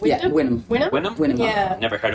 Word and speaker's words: Wynnum: Yeah, Wynnum.